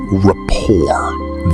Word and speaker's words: rapport: The T at the end is completely silent.